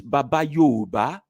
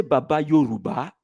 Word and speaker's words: Baba Yooba: i say my name my nickname is baba youba i didn't say baba yoruba i didn't give back